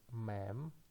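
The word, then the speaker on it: מי: The next word, it has only two consonants, and the first one is mem. And after that we have matres lectionis, hirik yod, which pronounce as one sound, e. And we can read this word as me.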